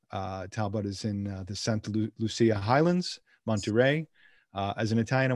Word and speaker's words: Santa Lucia Highlands: at talbot vineyards in the santa lucia highlands that's how that's how we pronounce it here um i'm a monterey